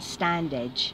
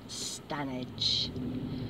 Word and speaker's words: Standedge: I did that I it turns out I mispronounced that because it's written stand Edge and I was calling it standedge and then I recently heard Robbie coming on his canal boat Diaries and he pronounces his things correctly and apparently it's stanage and it's going to